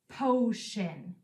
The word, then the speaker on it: potion: In this word, we spell sh with the T-I blend, and we end it with in.